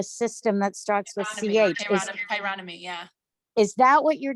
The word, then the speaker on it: chironomy: I forget how to pronounce the system that starts with CH. Chironomy, yeah.